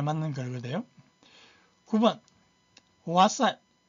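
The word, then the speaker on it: 哇塞: 와사인 일단 사인는 발음이 두 가지인데 사인가 있고 서가 있어 여기서는 사입니다.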